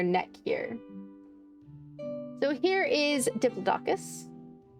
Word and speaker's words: Diplodocus: So here is Diplodocus. Diploticus I think I've heard it pronounced Diploticus as well. Diploticus. Yes. That's probably the more correct.